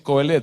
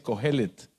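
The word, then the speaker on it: Qohelet: me corrigió, me dijo, no se dice Coelet, se dice Cohelet.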